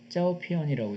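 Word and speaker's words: 照片: 자, 사진이란 말, 이제 영어 쪽에서만 얘기했는데 중국에서는 뭐라고 얘기하냐면은 빛을 조자와 조가 편자를 써가지고 조편, 중국 발음은 짜오피언이라고 읽어요.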